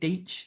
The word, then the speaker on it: Deitch: Is that how you say it? Deitch? Yes. Yeah. Yep. You got it.